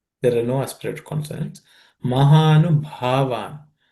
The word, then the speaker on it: महानुभावान्: Mahanu Bhavan. This Bha is aspirated, fourth letter in the per class of consonants.